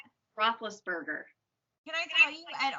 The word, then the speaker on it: Roethlisberger: Roethlisberger. Oh, how do you say it? Roethlisberger.